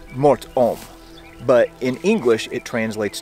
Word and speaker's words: Mort Homme: ominous nickname to it in French it's Mor om but in English it